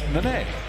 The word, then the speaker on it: Nene: Yet in the pronunciation guide, it's Nene.